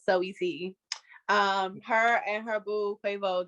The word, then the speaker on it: Saweetie: Even though I know it's pronounced Sweetie, I like saying the whole name out. Saweetie.